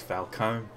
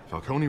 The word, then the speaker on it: Falcone: excuse us miss Vale thought it was Falcone I think you pronounce the e but there you go and what kind of